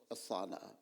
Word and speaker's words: osanna: Latin பாஷையில் ஒசானா, OSANNA, not HO, ஒசானா.